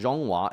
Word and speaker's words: Zhonghua: This theme is Dragon and Chuka, an archaic name for China, pronounced Zhonghua in Chinese.